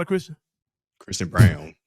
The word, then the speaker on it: Braun: Is Christian Braun a Christian? Christian Brown. Christian Braun. Christian Brown. The way because it's spelled like Braun.